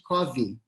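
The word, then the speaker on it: Cofi: E é um dialeto que eles chamam de Covi, se escreve com F, C-O-F-I, Covi é a maneira como eles falam, e 80% da população fala Covi como primeira língua aqui, não é?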